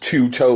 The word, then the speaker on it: Tueto: And it's going to be the Tueto. Here, get that in that frame. So yeah, that is pronounced Tueto, like T-O-O-T-O-E.